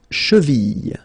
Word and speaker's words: cheville: La cheville. La cheville. Remember, double L like that after I, y, y. Cheville.